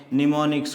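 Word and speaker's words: mnemonics: यूज़ किया जाता है जिसको हम कहते हैं निमोनिक्स कोड्स, ठीक है, निमोनिक्स कोड्स। ये M साइलेंट, ये स्पेशल वर्ड्स होते हैं।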